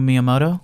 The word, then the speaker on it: Miyamoto: I'm gonna have to have definitely not you pronounce the guy's name this guy Shigeru Miyamoto sugar okay I could have